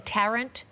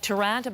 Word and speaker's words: Tarrant: they're calling him brenton tarrant tarantula thank you very much it looked like durant but i will correct